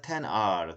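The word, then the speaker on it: iPhone XR: 그 아이폰 10이라고 읽어야 되죠. 그쵸? 뭐 아이폰 XR은 10R 그렇게 읽어야지 어머니가 적어도 나는 로마 숫자를 잘 알고 있어.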